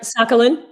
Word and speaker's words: Sakhalin: That's right, Sakhalin. Mm-hmm. Sakhalin. Okay. Mm-hmm. I've heard it pronounced different ways.